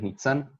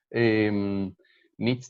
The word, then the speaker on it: Nitsán: para quienes no me conozcan mi nombre es meet and nombre de difícil pronunciación para estos estas latitudes nits también se puede coordino resonancias prácticas narrativas acá